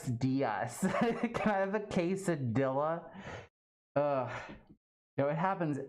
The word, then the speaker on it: quesadilla: And I don't want to be that guy that's just like, well, actually, it's pronounced quesadilla.